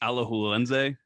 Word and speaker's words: Alajuelense: It's pronounced Alajuelense.